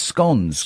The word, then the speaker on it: scone: No, it's scones. Scones. Yeah, I just said that. Scones. It's supposed to rhyme with stones.